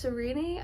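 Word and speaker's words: Sarene: It seems her name is pronounced Serene. I have pronounced her name Serene in my head for the weeks that I was taking time to read this book.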